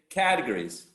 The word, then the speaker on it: categories: it category categories exactly it's not on the second syllable it's on the first syllable so exactly categories so when you think about this word remember the animal cat the cat right so you say categories why why the cat